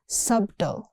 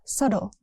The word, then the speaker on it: subtle: Next is subtle. Not subto, it's subtle. That's a subtle hint.